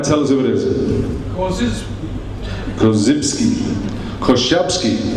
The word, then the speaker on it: Korzybski: Korzybski, as they say in Poland. That's how his family pronounce it. I was on the phone to them last night. Korzybski.